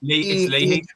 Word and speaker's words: Leahy: How would you pronounce that, lads? It's Leahy. It's Leahy. Leahy, right, Leahy.